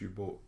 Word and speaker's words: U-Boot: It says U-Boot, but it's pronounced U-Boat.